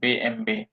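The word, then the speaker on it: BMW: Audi বিএম W Mary's বিএমডব্লিউ কে জার্মানরা বলে বে এম বে কারণ ডব্লিউ এর উচ্চারণ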